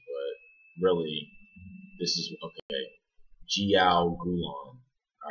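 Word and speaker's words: jiaogulan: Jiogulong.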